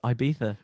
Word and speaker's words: Ibiza: as kate i'm like you gotta say it like it's ibiza man that's right for